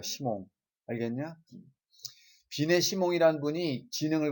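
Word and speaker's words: Simon: 시몬이 아니라 영어로는 사이먼이라고 읽어요. 이거 뜻은 모래란 뜻입니다. 모래, 샌드, 그죠? 예. 불어에서는 시몽이라고 있습니다. 시몽.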